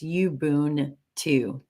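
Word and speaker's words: Ubuntu: It's pronounced you boon too.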